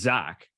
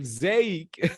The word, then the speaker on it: Zaec: to spell to pronounce z aec how's that pronounced it's Zach but I mean when people see it oh they don't say Zach right okay yeah okay they're like zake exactly exactly so where's